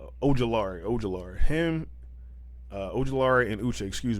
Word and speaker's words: Ojulari: And Al-Jalari, I know I always say his name wrong too, but Ojulari.